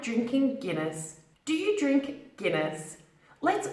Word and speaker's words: Guinness: now the second word Deena's Guinness it's not pronounced as diamonds here in this its Guinness deep next now a fun fact about this